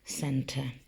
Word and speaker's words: centre: And we cross the centre. C-E-N-T-R-E, centre. Can you say it for me? Spell it out.